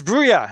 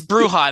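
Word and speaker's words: Brujah: uh people trying to figure out how to pronounce some of the clan names like it's bruya and they're like that's not true yeah it's bruja that one there's no argument about that it's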